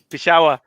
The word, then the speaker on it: Peshawar: that terribly tessa how do you say that peshawar i was like i was practicing i just